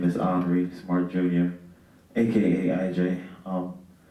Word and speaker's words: Iunre: you anyone pretty good some people say aunry hry um but it's French for Henry my name is hre smart Jr AKA IJ